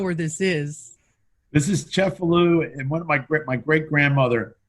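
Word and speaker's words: Cefalù: There's a lot of people from New Orleans that look at Cefalu as their hometown. Yeah, I know you were telling me all about that. And it's also pronounced Cefalu, right?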